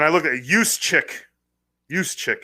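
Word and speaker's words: Juszczyk: look at Yus chick yuse chick is how you say it looks like Juck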